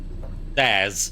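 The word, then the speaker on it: Zsasz: Zaz.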